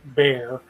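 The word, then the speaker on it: Bexar: deer in Bear County it's b-e-x-a-r but Texas pronounces bare and that's the county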